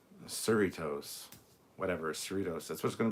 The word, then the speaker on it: Cerritos: uh but since then i've been told it's basically doritos or the the doritos um cerritos whatever cerritos that's what's